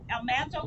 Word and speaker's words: Almanzo: Even after Laura and Almanzo got married, church and faith was very important to them. Now you notice I said Almanzo. I just found out recently that's really how you pronounce his name.